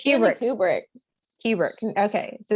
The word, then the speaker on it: Kubrick: It's Kubrick.